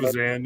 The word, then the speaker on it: Evazan: Evazan, I guess how you pronounce it. Evazan, yep.